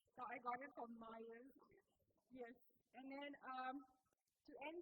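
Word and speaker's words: Meijer: So this one I got it in, I pronounce it as, but it's pronounced Myers because, yeah, that's how I pronounce it. So I got it from Myers.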